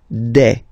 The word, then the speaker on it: des: Okay, and then the plural form, des. All right, here, s, you pronounce it like a.